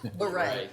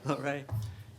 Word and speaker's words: Lorray: The only thing I'd point out is, how do you say your last name? Lorray. Lorray.